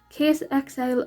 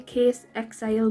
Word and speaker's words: Caisexile: But the rest of it is those, I don't know if I'm saying it right, but I say Case XL, but it's spelled CAISEXILE. So that's the only way